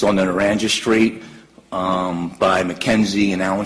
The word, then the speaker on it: Naranja: It's pronounced Naranja? Naranja, yes, sir.